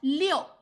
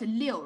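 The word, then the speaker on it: 六: leo we call it leo right number six and this one leo means flow flow water flow they also call it leo you see same liu the pronunciation same just different tones this one this one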